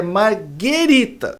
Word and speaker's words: marguerita: Ô Paulinho, margarita é bebida. A pizza é marguerita.